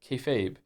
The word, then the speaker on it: kayfabe: refers to essentially treating a bit you're doing that everyone understands as fake as real to facilitate the bit and is pronounced kayfabe.